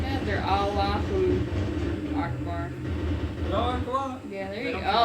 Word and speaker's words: Allahu Akbar: When they say it like that, they're Allahu Akbar. Allah Akbar! Yeah, there you go. Oh yeah, you want to get it perfected before you bring it out. Pronounce the U, man.